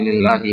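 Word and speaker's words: لله: Apa arti lillahi mulkus samawati wal ardh? Ya, milik Allah. Ya, kekuasaan langit dan bumi. Jadi lam yang ada pada kata lillah, ini bacanya lillah ya. Kalau ada alifnya itu bacanya Allah.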